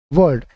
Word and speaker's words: world: देखिए इसमें एल जो है ये साइलेंट इसका प्रोनाउंस हुआ है, वर्ल्ड। ठीक है, इस तरह से इसको करना है, वर्ल्ड। एल को प्रोनाउंस बहुत बड़ा नहीं करना है, साइलेंट करना है।